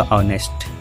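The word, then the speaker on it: honest: के व्यंजन में देखें, लेकिन इसका जब उच्चारण होगा वो हमारा होगा ऑनेस्ट। ऑनेस्ट हमारा आ आता है जो कि हमारा स्वर है हिंदी वर्णमाला में, तो इस प्रकार यहाँ पे होगा ए एन।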